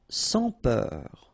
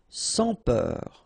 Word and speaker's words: sans peur: Sans peur. Okay, pronounce the final R, E-U-R, heure, peur. Sans peur. Don't pronounce the final S here. Sans peur.